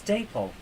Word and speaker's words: Dapol: I suppose the answer is Daypol.